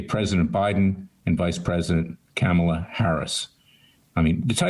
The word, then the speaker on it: Kamala: of being racist because they pronounced her name cameler rather than or kamala or god knows what the name is i don't know myself